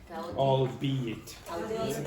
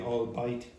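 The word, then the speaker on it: albeit: it all be it but some English speakers don't know how to pronounce that they say all bite but it's not right it's allbe it allbe it okay right can you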